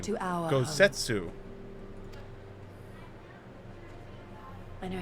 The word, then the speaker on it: Gosetsu: The time has come for Kosetsu and I to return to our Oh, that's how master, you say his name. to our Gosetsu.